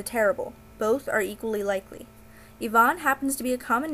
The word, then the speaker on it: Ivan: is Ivan binsky pronoun pronounced Ivon rather than Ivan which is a mistake many fans make including myself his first name may